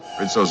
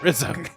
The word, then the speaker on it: Rizzo: Rizzo Rito Rito Rizzo first I thought they were saying ritso but then Uhura said Rizo and then I realized they were all saying Rito but or pronounced it most read Zoe everyone else was like Ritz ritzo that's the